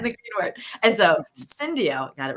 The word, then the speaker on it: Syndio: Senior Director, Total Reward Strategy and Solutions at Syndio. Wait, I'm totally pronouncing it wrong because I didn't totally fine. It's Syndio.